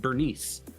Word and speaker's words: Bernice: they start saying like bernus bernus bernus bernus and it's like her name is not pronounced bernus it's pronounced Bernice she says it correctly